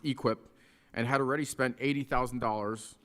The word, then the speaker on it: EQIP: A cattle farmer in eastern Missouri signed a $240,000 contract in December under the Environmental Quality Incentive Program, pronounced EQIP, and had already spent $80,000 on fencing and a well that he expected to be partly paid back by USDA.